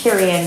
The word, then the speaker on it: Cariann: like, and the reason I usually pronounce it as Cariann with like Marianne, because Marianne they assume is one name.